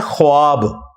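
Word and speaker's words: خواب: शैतान नहीं आ सकता अच्छा यह लफ्ज लिखने में है ख्वाब ख वा अलिफ बा लेकिन पढ़ने में यह ख्वाब है वाओ साइलेंट हो जाता है ख्वाब पढ़ा जाता है यह लफ्ज़ उर्दू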